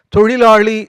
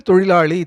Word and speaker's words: தொழிலாளி: பல்லவர் அந்த லகரம் வரவில்லை எனவே மூன்று லகர லகர லகர மூன்றையும் உள்ளடக்கிய தொழிலாளி என்ற ஒரு வார்த்தை தமிழில் இருக்கிறது. அதை கண்ணாடி முன்னின்று தொழிலாளி தொழிலாளி என்று சொல்லி பழகினால் மெல்ல மெல்ல அது சரியாகிவிடும்.